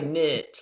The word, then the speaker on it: niche: I'm But glad it's you didn't say niche, Trow. That's highfalutin. We say niche, like ditch.